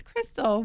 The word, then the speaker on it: Christell: welcome Crystal hi yes I said it right yes I feel like you told me some people read your name differently than it said but it's Crystal welcome Miss Tennessee USA